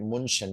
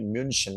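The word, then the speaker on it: München: putter like Munchen right you don't call it Munchen you call it Munchen why because there are two dots on top of it now let's say in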